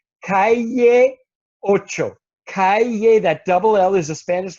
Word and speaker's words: Calle: a little music festival and the location is called Calle Ocho Calle that double-l is a Spanish letter called la and it's pronounced yeah so Calle Ocho and you might